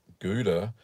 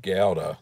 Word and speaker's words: Gouda: are you saying it isn't Gouda no Gowda that's the way the dutch pronounce it anyway so I've been